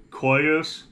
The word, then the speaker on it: Coeus: or the name is Coeus, Coeus, and I looked it up on Google in a pronunciation thing where you can listen to it. They say Coeus, I guess. Coeus, and they spelled it Koyows, so Coeus, Kubey Coeus.